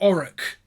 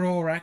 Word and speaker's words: Aurak: they're with Aurak or Auric, Angela Bruce keeps mispronouncing. In the second one, she's fine in the first one, but she keeps mispronouncing Aurak in Syndeton Experiment. She called it Auric or whatever.